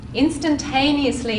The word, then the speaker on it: instantaneously: Instantaneously is tricky because it's a long word. How many syllables? Instantaneously. 5. 5 syllables. Instantaneously. 6. Yeah. Which one is the strong part, the strong syllable? Instantaneously. Tane. Yeah, so you can put